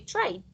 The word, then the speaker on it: tried: Remember, in this case, try, the Y is not a consonant, it's actually a vowel, right? So in that case, you say tried. Tried with T? D. No, this is D.